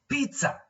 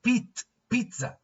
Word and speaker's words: pizza: Okay, it has, in pronunciation, it has got the letter, or we pronounce the letter T, even though it is not written. In the written form, it is not there. So it is pizza.